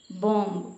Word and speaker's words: bomb: Bomb, B-O-M-B, bomb, which is the silent letter.